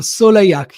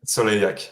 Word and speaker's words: Soleilhac: So sole like a sun the sun in French. Sole exactly a and then ak without the the h the uh the the English. So Soleak. Yeah. So yak.